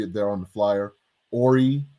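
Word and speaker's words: Horry: there on the flyer ori h o r r y the h is silent bail fund dot org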